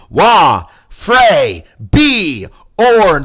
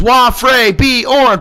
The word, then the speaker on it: Wafre Bjorn: I'll say that again slow for the people in the back. Wafre Bjorn. 4 syllables. Wafre Bjorn.